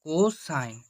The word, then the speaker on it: কোসাইন: কোস থিটাকে সম্পূর্ণ উচ্চারণ করে কোসাইন, কো তারপর সাইন, কোসাইন।